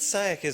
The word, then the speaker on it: Saewyc: Elizabeth Saewyc is our final speaker, and it's a pleasure to introduce Elizabeth because I can pronounce her last name, Saewyc.